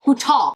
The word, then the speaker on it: bouton: Bouton. I know I'm not supposed to pronounce the N.